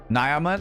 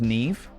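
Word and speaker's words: Niamh: It's like it's pronounced Siobhan or Nea. Nyama. Na. Nyama. Na. It's It's pronounced Nev.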